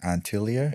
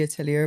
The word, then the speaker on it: atelier: I think this is more present Antilia. Is that how you The pronounce it? atelier.